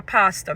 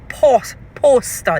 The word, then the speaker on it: pastor: Pastor is spelled PASTOR. They're saying poster, they're writing POSTER, poster, like a banner, like something that you would put up to advertise something. It is pastor. PASTOR, not poster.